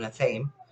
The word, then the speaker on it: athame: and you have what we call an athame or an athame. Some people pronounce it athame. I call it an athame.